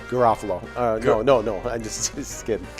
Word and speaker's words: Garofalo: It's Garofalo.